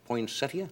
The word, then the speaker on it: Poinsettia: Poinsettia? That's the correct pronunciation. I always say Poinsettia.